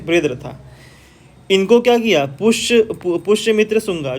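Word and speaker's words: बृहद्रथ: देखिए यहाँ पे तो एक गधा नहीं कहना चाहिए, लाइक जो लास्ट रूलर थे जिसका नाम था बृहदत्ता, बृहदरथा, ठीक है, थोड़ा प्रोनाउंसिएशन अलग है, बृहदरथा।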